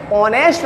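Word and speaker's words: honest: इसलिए कर दिया क्योंकि इसे साइलेंट है ऑनेस्ट पढ़ा जाएगा इसलिए एन का प्रयोग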